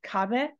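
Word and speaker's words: 壁: it's kage um so this word right here is a little bit of exception as it's not Gabe it's kabe kabe is a word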